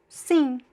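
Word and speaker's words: sim: Sing. Sing means yes. There's no m sound, right? Sing. Sing. Sing. You can pronounce more or less like the verb sing in English, but you see that in English we have sing.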